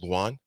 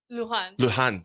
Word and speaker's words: Lujan: But Georgina, Georgina, and her last name Luan. Lujan. Georgina Lujan. I said it right.